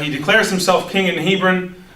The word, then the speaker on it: Hebron: declares himself king in Hebron or Heffron it's really how the right way to say it and he um he